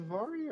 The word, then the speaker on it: Varia: Is it Varia or how do you actually pronounce it? Varia. Varia. Okay, so according to Varia,